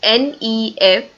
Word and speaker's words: nefarious: use moving to the next word that is n-e-f-a-r-i-o-u-s and the pronunciation is nefarious right again these two words